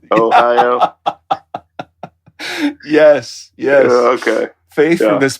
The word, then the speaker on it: Ohio: Ohio?